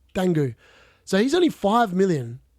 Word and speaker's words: Dango: man is that D how do you say it Dango not dongu dangu so he's only five